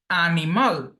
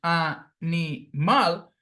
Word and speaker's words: animal: The same happens with animal, that again, there are three syllables, animal, but phonetically, the stressed syllable is the last syllable, animal, here.